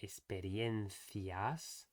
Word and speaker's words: experiencias: So instead of experiencias, as it sounds like when he is doing it, it should be experiencias with a clear A and a clear E in the middle.